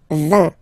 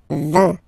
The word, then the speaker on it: vin: So you get V, V, and then you get nasal, I-N, un, vin, vin, vin, okay?